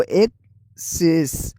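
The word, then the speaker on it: excess: अब इसकी प्रोनाउंसिएशन में फर्क देखें तो उर्दू साउंड के लिहाज से अेस पहला वर्ड है अक सेष जिसके स्टार्टिंग में ए है उसको ज़बर लगेगी अक सेष और और दूसरा वर्ड जो ई से स्टार्ट हो रहा है वो एक शेष एक शेष स्टार्टिंग वोवेल और स्ट्रेस स्लाइटली डिफरेंट फर्क वोवेल और स्ट्रेस में है।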